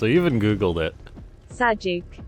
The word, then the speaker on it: Sajuuk: pick a harder bot name for me to pronounce. I even Googled it. Sajuuk. Sajuuk.